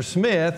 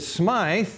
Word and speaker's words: Smyth: it's mine Thor Smith I don't know how they pronounced it back then I tend to think they pronounced it Smythe but I'm gonna go ahead and pronounce his Smith so you know don't freak out about that I know one